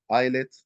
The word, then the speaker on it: islet: the pancreatic eyelids uh the s's is silent so it's eyelids and eyelid is Island islet Islands uh the pancreatic